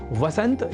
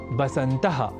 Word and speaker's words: वसंत: ऐसे ही वसंत या वसंतः और वसंतु जैसे शब्दों को बसंतः और बसंतर्तु लिखना और बोलना भी गलत है।